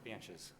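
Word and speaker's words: Bantjes: Banches. You spell that?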